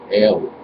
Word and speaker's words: El: Aramaic and Arabic, and was actually pronounced ale, like as in the drink ale.